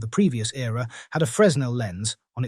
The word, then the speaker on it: Fresnel: Fresnel lens, which is pronounced Fresnel, is frequently used to create fires with the sun.